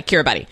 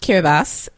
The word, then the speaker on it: Kiribati: looking this up because in my head it was always care about everybody Kiera buddy that's what it looks like because we're taught to sound things out but the place is pronounced care of us it is we do